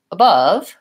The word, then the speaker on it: above: line tells me that the second syllable is stressed in the word above and I like to